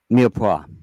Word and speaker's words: mirepoix: Mirepoix, Mirepoix. mirepoix. Yeah. That's kind of a Louisiana thing, isn't it? Mirepoix. It's French, Okay, and that's yeah, the why. Louisiana has Okay. a mirepoix.